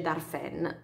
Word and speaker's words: Darphin: aggio del marchio darphin si scrive darphin ma si legge dalle fan marchio credo francese sì